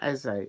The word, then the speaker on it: Eze: Apparently, Roman Eze, his surname, is pronounced the way as if you were doing an essay for your university lecture. So the way you pronounce that, I'm doing my, I don't know, 5,000 word essay on this subject. That's how you will say it.